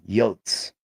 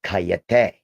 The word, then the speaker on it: coyote: My eldest son calls them yotss. Okay. I call them coay cuz that's how it's pronounced.